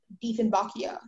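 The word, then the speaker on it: Dieffenbachia: Sentences, the Diefenbachia is an ornamental plant that is used fundamentally like an indoor plant. Are there any alternate pronunciations? Just the one, Diefenbachia. Diefenbachia.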